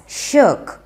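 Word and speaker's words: shirk: शर्क में जो आई होता है वो साइलेंट होता है, सो we pronounce it एज शर्क.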